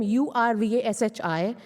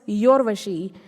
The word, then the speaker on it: Urvashi: For example, I have a name U-R-V-A-S-H-I. It is not pronounced as Yorvashi. It is pronounced as Urvashi.